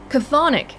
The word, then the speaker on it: chthonic: Chthonic.